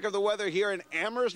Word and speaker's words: Amherst: the weather here in amoris Massachusetts with a silent h here we go everybody